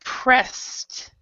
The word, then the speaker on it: pressed: uh you are hard pressed so this is actually like a t sound and we do not